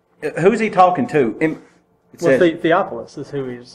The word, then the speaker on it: Theophilus: twice in the bible how do you say his next i say theophilus okay he's only mentioned